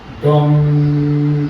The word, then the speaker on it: गं: ओम गं गणपतय नमः। ओम गंग गणपतय नमः ओम गंग गणपतय नमः गम नहीं बोलना ओम गम गणपतय एक